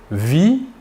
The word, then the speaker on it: vit: Nous ne prononçons ni la S finale ni la T finale. Par contre, il est obligatoire de les écrire.